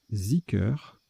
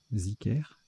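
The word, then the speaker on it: zikr: Alors, ça se prononce Zicker, ok, Zicker, et ça s'écrit D-H-I-K-R ou Z-I-K-R.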